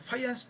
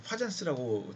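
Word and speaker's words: Fajans: 그 다음에 이제 파이안스 타이트레이션, 이걸 여러분 파잔스라고 되게 발음을 안 하더라고요. 파이안 이렇게 발음을 합니다.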